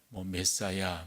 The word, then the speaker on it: 메시아: 우리가 이제 그리스도라고 하는 말, 그것을 이제 히브리어로 구약식으로 이야기하면 메시아가 되는 거죠. 메사야 이렇게 발음도 하곤 합니다만은 이 메시아, 신약으로 이야기한다면 그리스도예요.